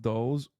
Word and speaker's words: DLE: They're called DLEs, pronounced dulls, like wordle.